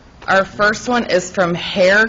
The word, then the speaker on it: Hoerr: Our first one is from Hair Construction. I believe I'm pronouncing it right, but it's spelled Hoerr.